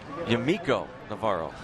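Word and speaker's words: Yamaico Navarro: Now here's Yamaiko Navarro. Although the Orioles PR staff gave us a list of pronunciations, John, and according to them, he's now Yamaiko Navarro.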